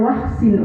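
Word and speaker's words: وأحصن: Wahsin, ya meskipun di situ ada alif tapi langsung ke huruf haknya. Wahsin farjahu. Tapi tetap ada huruf alifnya itu. Wahsin sebenarnya, tapi bacanya bisa langsung wahsin farjahu.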